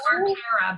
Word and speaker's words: Arcara: It's pronounced Arcara, but thank you for that. Arcara.